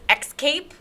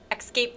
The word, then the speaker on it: escape: she says propaganda yeah and she doesn't say escape she says x cape or like something like that i i know she mispronounces yeah like escape yeah it's like escape the danger escape like